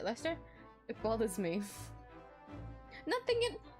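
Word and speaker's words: Leicester: Lester square that you told me last time to pronounce it Lester it bothers me nothing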